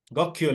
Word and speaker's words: Gokyo: So the next one, and I'm not sure if I'm going to pronounce this correctly, is Gokyo Lake. Gokyo Lake, you're right, yes.